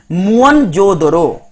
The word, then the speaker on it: मोहनजोदड़ो: मोहनजोदड़ो शब्द का सही उच्चारण है मुअनजोदड़ो।